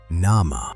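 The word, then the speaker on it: nama: The word name wasn't name. It was "nah-mah".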